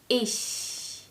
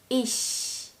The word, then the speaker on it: ich: I which is Ish ish and in order to pronounce the CH sound properly you need to press air through a tiny gap between your teeth so it's ish ish all right let's